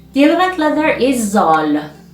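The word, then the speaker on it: ذال: the eleventh leather is zoll zolo is pronounced as like zebra in english and its form is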